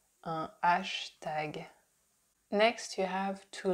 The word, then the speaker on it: hashtag: we say hashtag hashtag we just don't pronounce the H the Hat at the beginning because that's not a sound that would exist in French so we say ashtag ashtag next you have to